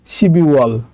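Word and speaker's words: 십이월: তারপর আছে হচ্ছে শিপ ইল ওয়াল মানে ডিসেম্বর মাস, কিন্তু এটা উচ্চারণ হবে হচ্ছে যেহেতু বিউপের পরে ইয়ং আছে তাহলে এটা উচ্চারণ হবে শিবি ওয়াল, শিবি ওয়াল।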